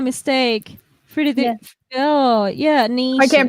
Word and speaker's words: Nietzsche: Oh yeah, I niche. can't pronounce that name after it. It's So, niche. So yeah, because it's German, right? So it's Nietzsche. I'm gonna take your word for it.